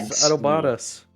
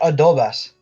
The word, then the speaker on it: adobadas: adobadas. Adob Spell it. ADOBADAS. I don't know what that is. Looks like a pepper. It sounds like adobas. No, but it has an extra DA. Adobadas.